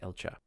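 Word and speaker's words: Elcga: Um, but since it's in a Darren founded paladin order, I believe it's pronounced Elcha.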